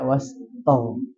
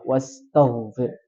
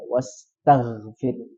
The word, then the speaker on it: واستغفر: Nah, jangan sampai wastaw. Jadi dia terobsesi ke huruf ho-nya. Ho. Ya, jadi terikutkan di sini seolah-olah dia bacanya bukan ta tapi to. Ya, wastaghfir. Tapi yang betul adalah ta biasa, wastaghfir.